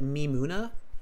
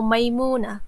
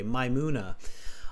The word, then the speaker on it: Maimuna: pronouncing your name correctly is it me Muna no maimuna it's literally like Mai okay my Muna all right my Muna